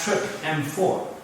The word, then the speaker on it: TRPM4: complex with another protein which has the name trpm4 which is pronounced trip m4 the new class of